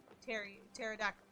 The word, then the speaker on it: pterodactyl: Do you ever get Trotec, like the P is silent? Yeah, like the T in pterodactyl.